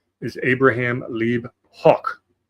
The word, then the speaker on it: Hoch: So his birth name is Abraham Lieb Hoch, which I'm trying to do the German pronunciation, spelled H-O-C-H.